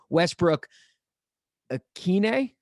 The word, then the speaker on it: Westbrook-Ikhine: He is Nick Westbrook-Ikhine.